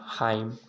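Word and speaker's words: hymn: और यन साइलेंट होता है, यन ही खाली साइलेंट होता है, ठीक है ना। जैसे आटम, डैम, हाइम, कॉलम, ठीक ना, ये प्रकार का क्या है आपका साइलेंट है।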